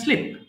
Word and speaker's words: sleep: Yes, আবার বলো I can sleep.